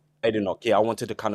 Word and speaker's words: Badenoch: I can't pronounce her last Badenoch. name. Badenoch.